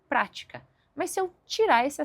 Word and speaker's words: prática: A palavra prática tem um acento que deixa bem claro que eu preciso enfatizar, ou seja, colocar mais força na primeira sílaba e eu falo prática.